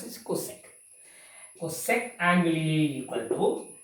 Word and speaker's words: cosec: You know, pronounce it cosec.